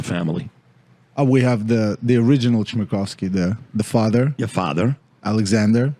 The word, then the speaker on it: Chmerkovskiy: Chmerkovskiy. You sure about that? Yes. Okay. I had practice. Yeah. Now, in studio, we've got who else here from your family? We have the original Chmerkovskiy, the father.